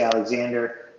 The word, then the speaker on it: Alexandre: on twitter that's uh my name is uh spelled in a funny way you could say alexander but it's spelled like alexandre the french spelling d-r-e at the end the other thing to